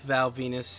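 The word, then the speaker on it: Val Venis: I still am at his feud with Val Venus in 1998 or 1997. One of the two. You ever notice that Val Venus's name rhymes with penis?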